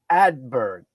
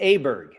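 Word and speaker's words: Åberg: Ludwig Adberg. Close? Yeah, Ludwig Aberg. Aberg. Okay.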